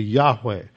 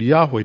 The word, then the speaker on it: Yahweh: the name of God the second seems to be pronounced uh like West so it'd be Yahweh now most of you